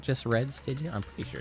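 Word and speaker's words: Stygian: apologize but to um actually you it is pronounced stigan oh I see I'm sorry I thought you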